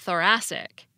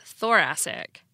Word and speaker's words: thoracic: stressed syllable for example when you put I C on the root thorax you get thoracic not thoracic the verb terrify has